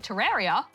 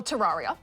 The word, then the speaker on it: Terraria: In regards to the correct pronunciation of Terraria, Or Terraria.